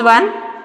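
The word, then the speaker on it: -one: Here we cannot tell it as one, it is on. You have to name it as on. That is the secondary suffix for ketones. Okay, you have to pronounce like on, not one.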